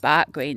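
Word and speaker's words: Barugh Green: He would go there in daytime to this church basically up in Bark or Barag Green. It's pronounced Bark Green though in Barnsley.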